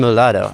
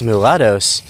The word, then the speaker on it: mulatto: So like uh many of these people they call them the Mword that rhymes with avocados and probably might come from the word mule.